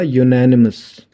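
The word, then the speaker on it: unanimous: इसका सही प्रोनाउंसिएशन क्या होगा? यूनानिमस। यूनेनिमस पढ़ते हैं हम इसे।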